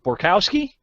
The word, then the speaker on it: Borkowski: of tricky to me borkowski Bukowski yeah it's tricky because it sounds just like it's spelled so that was you